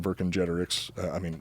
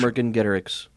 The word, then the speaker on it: Vercingetorix: So now it's time to get into the nitty-gritty, as you said earlier, with part 2 of our series on Vercingetorix.